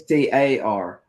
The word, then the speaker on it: Sterling: John Eccles and Jeff Sterling. Is it Sterling? I think I'm pronouncing that right. It's Staring. Yeah.